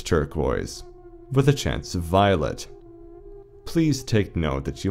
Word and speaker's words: Violette: It is pronounced Violet. Violet.